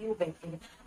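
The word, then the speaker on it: Eubacteria: यू बैक्टीरिया के अंदर ई क्या रहेगा, साइलेंट रहेगा, उसको क्या बोला जाता है, यू बैक्टीरिया।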